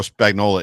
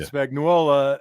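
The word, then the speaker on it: Spagnuolo: to say you got Spagnola uh orchestrating quite a defense John I know he's Italian you don't have to add a you don't have to add syllables Spagnola Spagnola we're gonna have it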